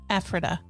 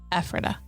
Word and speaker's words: Ephrata: It's pronounced Ephrata in Lancaster County. Ephrata.